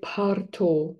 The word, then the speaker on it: bardo: you don't understand, but the Tibetans say, if you say to them Bao, they'll be what? So they say it parto.